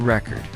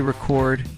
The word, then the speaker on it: record: Take the word record. If you say record, you're talking about a vinyl disc. If you say record, you're talking about saving information.